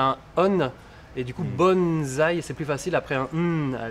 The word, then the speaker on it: bonsaï: mai 15 et d'ailleurs tu sais en français ça s'écrit avec un s et on devrait le prononcer bon ça y passe